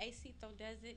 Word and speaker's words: Acecitodoesit: You can find me on Instagram at Acito Desert, ACECITODOESIT, Acito Desert.